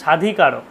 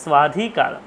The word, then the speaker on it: স্বাধিকার: কশ্চিৎ কান্তা বিরহ গুরুনা স্বাধিকার প্রমত্তঃ, স্বের উচ্চারণটা যদি আপনি অর্ধেক না জানেন তাহলে কি বলবেন? স্বাধিকার। কিন্তু স্বাধিকার কথাটি আসবে না, হবে স্বাধিকার। স্ব আর ব দুটোকে একসাথে উচ্চারণ, স্বাধিকার প্রমত্তঃ, প্রমত্তঃ, একটা